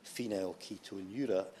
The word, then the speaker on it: Phenylketonuria: before I received it to find out the pronunciation and very sensibly informed us all that it's Phenylketonuria.